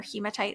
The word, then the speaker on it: hematite: like Smokey quartz uh hematite is also great it's that red stone or hematite or hematite some people will pronounce it um it's it's red